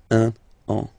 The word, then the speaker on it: un an: So I will make the liaison just to make it more normal after. Okay, but I just want to divide here. Un an. Okay? So let's read it normally now. Il va partir pour un an. Okay? So you can hear that now I make this link between the two.